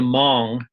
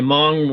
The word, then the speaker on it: Hmong: Even the Hmong, that's spelled Hmong, those are tribal people from Laos